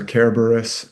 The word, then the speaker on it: Kerberos: Cerberus or Kerberos as the the Romans would pronounce it with a hard C, but we usually say Cerberus or Kerberos.